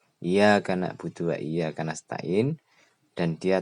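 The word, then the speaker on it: نعبد: Demikian pula ketika kita membaca na'budu, iya karena na'budu pakai ain, karena tidak pernah belajar bacanya nakbudu pakai kaf, itu artinya adalah sakit limpa.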